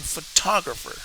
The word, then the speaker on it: photograph: two words photograph and photographer look at its photograph here photograph I make the emphasis here photographer I will make the emphasis in the two now imagine that you're